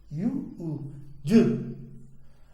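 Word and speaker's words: jū: Então ali, se você for ler parceladamente, Ju. É assim que eles pronunciam.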